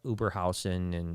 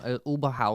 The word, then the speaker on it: Oberhausen: I've spent time in Ham and Oberhausen and Stuttgart. You said it wrong. Oberhausen.